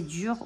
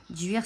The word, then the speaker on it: duir: celte du chêne appelé dUIR prononcé dur ou d'ower dur signifie porte et après